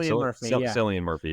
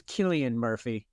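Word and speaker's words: Cillian Murphy: it selan how do you say his name silan Murphy yeah I thought it was I don't believe it's Killian Murphy and I don't mean that sarcastically I there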